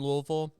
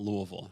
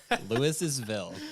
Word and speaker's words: Louisville: Mom, there's an S in there. Yeah. But no one pronounces it there. I forgot there's an S in there. Louis'sville.